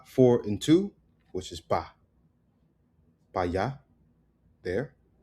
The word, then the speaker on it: para: And then para becomes remember right don't even say para it's becomes pa it's the most common p for and two which is pa pa there right so